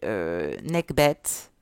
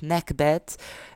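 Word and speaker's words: Nekhbet: connu on a ici n'est que bêtes il faudrait que je le prononce mieux que ça d'ailleurs nac bête aux ailes de vautours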